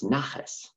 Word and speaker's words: naches: Nachat, pronounced in the Yiddish way, is naches.